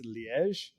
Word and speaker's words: Liège: It was most widely known in the city of I'm going to pronounce this terribly. I think it's Liège in Belgium.